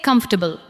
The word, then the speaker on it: comfortable: Now say comfortable. Comfortable. Do not give every syllable the same weight. Let the first part carry the stress.